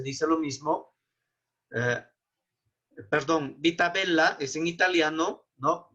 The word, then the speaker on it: bella: Perdón, vita bella es en italiano, ¿no? En italiano se pronuncia la doble L, ¿no? Es por separado, no se dice vita bella, sino vita bella.